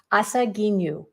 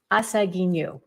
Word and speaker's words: Asaginu: wrong but that um each syllable in a japanese word has an equal stress so asagi nu is